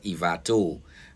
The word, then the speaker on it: Ivato: away from Antananarivo, called Ivat. It's actually spelled Ivato, but everybody pronounces it as Ivat for some reason.